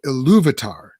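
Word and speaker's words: Ilúvatar: but then when you get to talking about eluvitar can i pronounce that correct you did yep louvitar who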